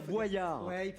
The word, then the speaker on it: Boyard: Il paraît que je le prononce mal. Moi je dis Fort Boyard. Il faut dire Boyard.